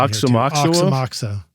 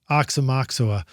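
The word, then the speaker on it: Aoxomoxoa: And you're going to have to set us straight on the pronunciation. Oxamoxa. Oxamoxa.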